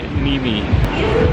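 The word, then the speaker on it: Niemi: it off of that I probably would pronounce it neem as well but probably blowing your mind here a little bit but the correct pronunciation is actually nimi no worries if you've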